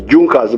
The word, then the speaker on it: Junker: They are written as Junkers, but they are pronounced as Junkers.